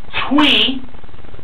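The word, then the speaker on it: Thuy: Finally, we had Twee, that's spelled T-H-U-Y, but pronounced differently compared to how it's spelled.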